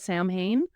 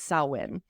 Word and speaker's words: Samhain: A lot of people try to pronounce it Samhain, but it's Samhain.